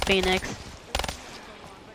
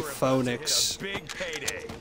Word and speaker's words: Phoenix: ] way cheese rising phoenix rising phoenix i love it when people call me that or when people get my name wrong they call me phoneix so funny like it's Phoenix get it right what if we had